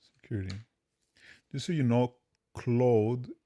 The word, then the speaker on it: Claude: Clos claude code security just so you know clothe is the pronunciation in French so clothe code code claude code that's a little weird what's What happened?